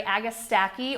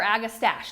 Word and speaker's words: Agastache: to be Royal Raspberry Agastache or Agastache, depending on what region you're in. We say Agastache most often here, but we pronounce a lot of things wrong in our area. So I think proper is Agastache.